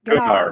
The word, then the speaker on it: Gunnar: No D. Gunnar. Gunnar. Oh, there's no D on the end.